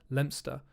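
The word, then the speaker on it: Leominster: down the road there's a town called lemster which is written leo minster so i i realized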